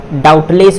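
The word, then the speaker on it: doubtless: अब यहाँ देखिए, अब ये टी से पहले क्या है, ये बी है, तो बी क्या होगा, ये साइलेंट होगा, क्या होगा, ये साइलेंट हो जाएगा, तो क्या हो जाएगा, डाउटलेस हो जाएगा, क्या हो जाएगा, डाउटलेस हो जाएगा।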